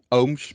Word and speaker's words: Ooms: ohms to satan dutch i know the last name is a little bit difficult to pronounce but most of them pronounce it like oomps or something like that but it's ohms but um i will